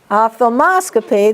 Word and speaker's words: ophthalmoscopy: Ophthalmoscopy, the accent is on MOS.